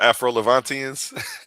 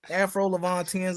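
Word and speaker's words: Afro-Levantine: I would call them Afro Levantians. Afro Levantines. Okay. That's not how you say it though. It's Afro Levantine.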